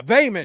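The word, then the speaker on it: Baelon: Is uh No, it's uh I forgot how you pronounce it, but he was looking down from heaven. Bam. Bamon. Bayon. Yeah, Bayon.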